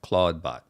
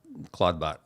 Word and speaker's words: ClawdBot: CL L A WD cla bot simple similar to Claude but Claudebot.